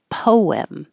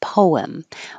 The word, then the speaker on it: poem: it like two syllables poem your lips should round and then unround and make the invisible W poem or just a single syllable poem both are correct he